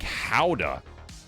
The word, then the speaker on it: Gouda: You're pronouncing Gouda incorrectly. I am? It's more like Howda.